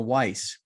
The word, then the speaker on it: Weiss: Experienced investor today is Josh Appelman, and our aspiring investor is none other than Weiss. Rhymes with nice, apparently.